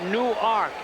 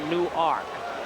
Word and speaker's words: Newark: ark delaware new york no new arc any w-a-r-k like newark new jersey except they pronounce a new arc infield in and andy